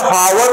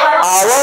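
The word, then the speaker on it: hour: फसो नहीं ठीक है ये बेटा हावर नहीं है आवर है आवर है आवर में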